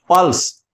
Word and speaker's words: पल्स: जैसे हम बोलते हैं पल्स, तो यहां प के ऊपर बलाघात है, प लंबा, यानी थोड़ा सा इसे समझें आप।